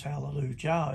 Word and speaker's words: Hallelujah: we know finally know the sound of of the jh in hallelujah as hallelujah it's got here which is halleluj the yh is pronounced yeah because that's what it is in the hebrew there the sound the same